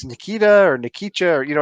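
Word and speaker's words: Nikica: his first name Nika Nikita right but it's not spelled it's spelled in an unusual way and i n i k i c a Nikita yes okay because I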